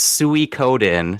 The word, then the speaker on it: Suikoden: It's It's Suie Coden. Technically by Kenomi from Metal Gear Solid. It's said by Psychomics. It's true. I always suicen. Yep. Okay. I've been saying wrong all my life.